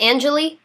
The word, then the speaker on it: Anjelah: calls with my fans hello hello is this Angelie oh my God yes is that how you say it Angelie yeah you said it perfectly oh good I